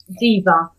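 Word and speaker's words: Ziewe: Ziva, I think. Z-I-E-W.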